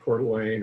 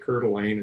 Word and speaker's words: Coeur d'Alene: got started on Lake Coeur d'Alene or Lake Coeur d'Alene as I prefer to pronounce it show me the probably